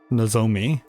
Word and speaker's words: Nomi: They've been saying it with this the emphasis on the second syllable. Nomi pronounced with the Well, that's AI overview.